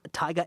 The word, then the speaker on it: Tiga: name of the logo Tiga a tiger the silent r on the back end so that's right a